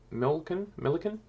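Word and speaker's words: Melican: And Lewis Milliken? Rhymes with Pelican.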